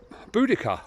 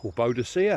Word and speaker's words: Boudicca: surprised air then and Boudicca Boadicea however you want to pronounce it she's linked to